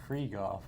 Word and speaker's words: Krieghoff: yeah, it's supposed to be Krieghoff.